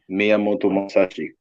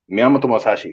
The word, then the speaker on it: Miyamoto Musashi: Miyamoto Musashi. Miyamoto Musashi.